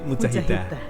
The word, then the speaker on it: mujahidah: Coba diucapkan? Mujahid, mujahidah.